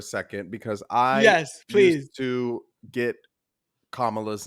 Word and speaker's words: Kamala: because I to get kamala's name wrong and I just wanted to provide a visual aid for those who still get it wrong it is Comm La Kamala Kamala if you have to